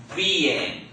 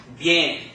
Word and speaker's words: bien: So it's not bien. Okay, it's bien. Okay, so it almost sounds like a Y sound because you're running them together so fast.